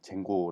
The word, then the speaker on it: Django: 좀 알아 보도록 하겠습니다 장구 뭐 쟁 고 라고 발음을 할 수도 있구요 8 선으로 만들어진 무료